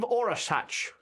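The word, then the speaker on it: Orašac: So the village where where my source is the village of Orasach, Oh. which is spelled Orasac.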